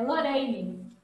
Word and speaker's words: Lorane: É Lorraine. Lorane com R só mesmo, né?